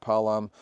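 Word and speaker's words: Paalam: The Filipino Palam, that's how you pronounce it, Palam.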